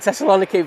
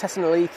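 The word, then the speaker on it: Thessaloniki: Oh no, I want to call it Teslani, but it's Tesliki, isn't it? It's a I've butchered that as well.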